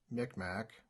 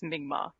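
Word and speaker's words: Mi'kmaq: in migma so it's mingma so it's more like a g almost mm-hmm yeah the old old school was mick mac and that's what we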